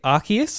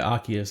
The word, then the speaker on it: Arceus: legends rks is that is that how you pronounce it um i say arceus yeah um yeah yeah i think there's a few different pronunciations going around but that's personally what i say yeah arceus okay cool